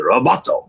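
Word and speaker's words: ロボット: So, and then while I was there, somebody said the name for robot in Japanese is Roboto. That's how they say it.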